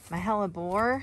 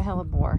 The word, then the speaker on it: hellebore: on its way out mahela bore helleborus i think you actually pronounced that hellebore have i showed these